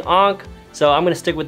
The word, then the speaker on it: Ankha: we start this video i've seen two ways to pronounce her name it's anka or ank i kinda like saying ankh so i'm gonna stick